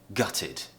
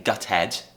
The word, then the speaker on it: gutted: ending of the word we're not saying gut head we're saying gutted although it's spelt with an e d we're pronouncing it as it so we're doing this